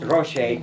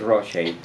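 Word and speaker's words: Ruscha: Este es eh eh Ed Rochet, que todo el mundo no sabe pronunciar su nombre, pero es un pintor angelino que ustedes conocen, Rocha, Rusa, no lo conocemos todos, pero se en realidad se llama Ed Rochy y yo le escribí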